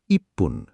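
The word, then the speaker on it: いっぷん: নিয়মটা হলো এক তিন ছয় আট আর 10 মিনিটে পুন হয়। বাকি সব মিনিটে ফুন হয়। চলো মিনিটগুলো পড়ি। এক মিনিট বলতে বল ইপুন।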